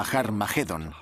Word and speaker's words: Armagedón: De hecho, en las primeras versiones del Nuevo Testamento escritas en griego, Armagedón tiene una aspirada al principio, que significa que se pronuncia con H inicial. Por tanto, originariamente era Harmagedón y podemos pasar de